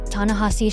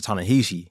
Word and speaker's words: Ta-Nehisi: episode, Ta-Nehisi shared a little bit about his early writing experiences and the impact of hip-hop on his work as a writer.